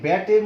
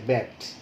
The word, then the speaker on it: ব্যাট: আমি যদি লিখি যে ব্যাট, তাই না, তোমরা তো ক্রিকেট খেলো, এই ব্যাটের মধ্যে দেখো এই যে জফলা আকার দিয়ে যেটা আছে, উচ্চারণে কিন্তু এ আছে, ব্যাট, ব্যাট শব্দটায় দেখো এ।